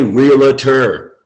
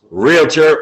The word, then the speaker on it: realtor: estate agency not a realtor it's not a three-syllable word right Mike realtor or realtor whichever one